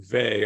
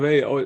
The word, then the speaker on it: Weil: I would say that I've always said her name Vey. I don't know if it's I don't know quite what's right. I think it's the sort of the French and German pronunciations of it.